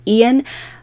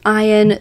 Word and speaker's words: Ayan: that it's actually pronounced Ian but it's not it is pronounced iron so just to clear that up in case people want